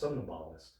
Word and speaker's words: somnambulist: So I was like, oh, that's how that's pronounced, somnambulist. Somnambulist.